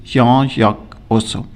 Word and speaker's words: Jean-Jacques Rousseau: तो इसको प्रोनाउंस किया जाता है करेक्टली जॉन जैक रूसो, लेकिन अगर इंग्लिश में हम प्रोनाउंस करें तो हम कह सकते हैं जॉन जैक रूसो.